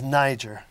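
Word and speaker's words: Nyjer: The real name is Niger, now spelled N-Y-J-E-R to avoid any particular pronunciation problems with that.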